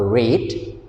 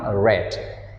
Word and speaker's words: read: return to red even we write the same way but we pronounce differently okay in present we pronounce a read but in past we pronounce red and one more thing